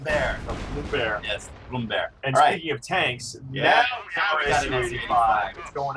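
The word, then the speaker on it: Brummbär: like that pronounce the tank learn how to pronounce for German tank the bromar Noom bear bear Bloom bear the Blom Bear yes Bloom bear and speaking of Tanks going out here of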